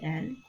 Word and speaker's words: elle: So now we have the human pronouns, which is il, elle, and on. So il is spelled I-L.